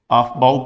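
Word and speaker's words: Aufbau: पढ़ते हैं, ठीक है, आफबाउ प्रिंसिपल भी इसको बोलते हैं, ठीक है, ऐसा भी प्रोनाउंसिएशन कर सकते हैं, अफबाउ प्रिंसिपल, लेकिन है अफबाउ एक जर्मन वर्ड है जिसका मतलब होता है टू बिल्ड अप।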